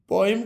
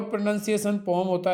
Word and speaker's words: poem: पोइम का pure प्रोनाउंसिएशन पोम होता है।